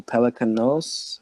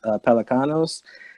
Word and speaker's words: Pelecanos: George the see Michael pronounce his last name Pelican nose Pelecanos oh come in David